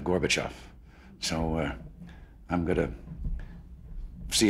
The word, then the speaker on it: Gorbachev: in a pronunciation because they were pronouncing it gorgeous back off instead of Gorbachev so I'm going to